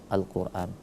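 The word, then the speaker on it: Al-Qur'an: kita ketemu Alif Lam Qomariah itu kenapa kita bacanya Alquran Alif lamnya kita baca Al bukan kita baca Alquran Bukan tapi alnya disebut Alquran dibaca 2 harokat kemudian kalau wakaf di situ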